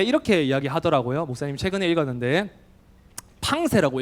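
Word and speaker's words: Pensées: 목사님 최근에 읽었는데, 팡세라고 읽어요. 프랑스어로 팡세.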